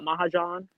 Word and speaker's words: Mahajan: Mahajan? I had trouble knowing exactly how to pronounce that as well. But yeah, that sounds like what I was thinking as well. Mahajan.